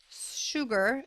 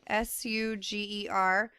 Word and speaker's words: Suger: Okay, so first of all, the development of Gothic architecture began with the abbot Suger, Suger, when he updated the Abbey Church of Saint Denis. It's spelled Denis.